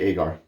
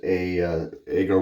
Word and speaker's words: Agar: I had to go to Google pronunciation, Google Translate, Google pronunciation, Google says whatever it's called. And as they put it, it's agar wood. So I'm going to say Agar.